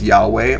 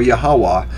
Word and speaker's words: Yahweh: adonai which means the lord so yhwh is pronounced as yahweh or yahawah yhvh is pronounced as jehovah or jehovah depending